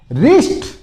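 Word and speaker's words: wrist: ये रिस्ट watch तो इसमें भी क्या देखो डब्लू साइलेंट रहेगा कहां से बोलोगे यहां से रिस्ट बहुत से बोले रिस्ट बोलने में दिक्कत आती है डब्लू आर आ गया लेकिन ये साइलेंट रह जाएगा आपको रिस्ट बोलना है इसका मतलब होता है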